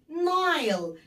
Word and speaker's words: Nile: The Nile. هنا الإي خبطت الآي على دماغها فكانت بتنطق زي الآي، زي اسمها بالظبط.